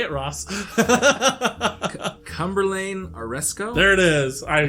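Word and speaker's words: Cumberlayne Aresko: Cumberlane Oresco?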